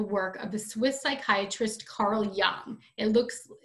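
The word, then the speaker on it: Carl Jung: of the swiss psychiatrist carl young it looks the j is uh pronounced ya so it's carl young and you might learn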